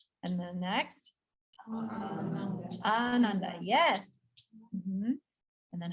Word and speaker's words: ananda: And then next, ananda.